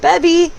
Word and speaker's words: Bebby: You can call me Bebby or. And Bebby is pronounced, it rhymes with Debbie, but it has a B on the front of it.